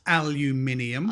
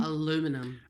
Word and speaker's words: aluminium: For all the American listeners, it's aluminium. Aluminum.